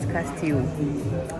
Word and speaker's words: Castillo: So their L is silent, and so we are at Castillo.